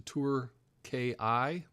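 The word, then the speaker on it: Türkiye: I don't know if we're going to change the pronunciation to Turkiye, which I guess is closer to how they say it in Turkish.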